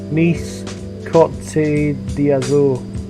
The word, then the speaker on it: Nice Côte d'Azur: I'll try and pronounce it properly. It's Nice Côte d'Azur.